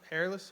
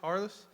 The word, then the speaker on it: Harless: sure it's hairless did I pronounce it hairless Harless we got him right